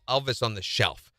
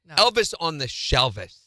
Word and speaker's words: Elvis on the shelvis: the shelvis okay and they say it wrong they say Elvis on the Shelf that's stupid Elvis on the shelvis is the way you say it where do I put